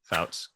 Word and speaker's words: Pfautz: Did I pronounce that correct? Close to Pfautz, yeah, but close enough. Pfautz.